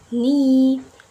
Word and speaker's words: knee: In letter K, we not pronounce it when it comes before N word. For example, like knife, no, knee, knock. We not pronounce the letter K, right?